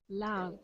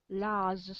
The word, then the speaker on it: large: Large. Large. J. Large. Large. Good, yeah. You got to get a J sound.